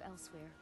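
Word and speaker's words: Elsweyr: the cat folk of elsewhere great warriors good traders naked way i hear it elsewhere nothing like skyrim it's got tropical forms they literally pronounce it like elsewhere it sounds awful yes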